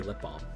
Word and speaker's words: balm: of the time over here we just say lip balm they don't really bother with the l because